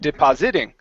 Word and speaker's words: depositing: So the second time when you said it, you said depositing. Okay. So the stress is on the PO.